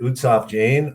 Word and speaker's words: Utsav Jain: the morning and that's where uh is it utsaf jane um is that the best way to pronounce it yes so we were just talking